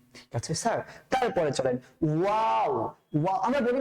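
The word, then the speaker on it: و: তো ওয়াওটাকে আমরা কি করব, একটু মুখটাকে গোল করে উচ্চারণ করব, ওয়াও ওয়াও ওয়াও।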